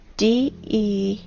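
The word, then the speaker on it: дерево: You know, in the Russian language, the word tree is spelled D-E-R-E-V-O, de-re-vo.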